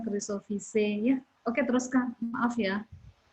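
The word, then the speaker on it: Chrysophyceae: Makanya saya koreksi kalau EAE itu dibacanya Chrysophyce ya.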